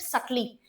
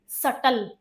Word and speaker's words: subtle: Models are highly context dependent and there meaning can shift सटली। इस word को क्या बोलते हैं? SUBTLE। इस वर्ड को क्या बोलते हैं? सटल। बी साइलेंट होता है।